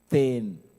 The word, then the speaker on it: then: In Luo, we call it ten. Ten, you say T-H-E-N, like you're writing down the word then. Yeah. But now we pronounce it in my mother language as ten.